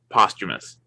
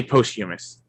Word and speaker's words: posthumous: It's one of those words that can be pronounced in several different ways. Yeah, I have just always heard it pronounced posthumous, but you're probably right.